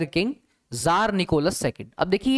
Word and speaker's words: Tsar: और आप देख सकते हैं एविडेंसेस कि जर्मनी में, ब्रिटेन में, फ्रांस में इस तरह की